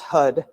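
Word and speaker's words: Har: call it tantricar and it's h a r but it's pronounced hud we won't be chanting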